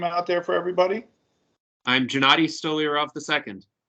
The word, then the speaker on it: Gennady Stolyarov: if you want to tell us the proper pronunciation of your name out there for everybody I'm Gennady stolirov II it's easier for him to say than